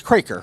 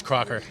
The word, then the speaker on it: Crocker: actually, this is Thomas, and it's Craker, right? It's Crocker. It's Crocker? It is. It doesn't look like it looks. It doesn't sound like it looks, I should But, say.